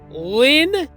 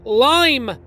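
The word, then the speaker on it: Lyme: I found that out so it can be pronounced Susanna Lynn Penn or Susanna lime pen so I guess it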